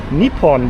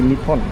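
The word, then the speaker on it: Nippon: Nepon. That is how you say Japan. In Japanese, right?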